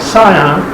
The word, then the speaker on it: Scion: year's project 2006 scion yes that's how you say it scion another friend of the